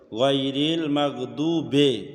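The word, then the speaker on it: غير المغضوب: আলাইহিম ওয়ালাদ-দাল্লিন গায়রিল মাগদুবি এখানে অনেকে আমরা ইয়ামালা পড়ে ফেলি গায়রিল মাগদুবে অনেকে পড়ে আসলে বাজের বি উচ্চারণ গায়রিল মাগদুবি আলাইহিম ওয়ালাদ-দাল্লিন চার আলিফের মত ওয়ালাদ-দাল্লিন আমিন।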